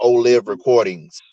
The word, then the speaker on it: Olive Recordings: So I pronounce it Olive Recordings with Mm.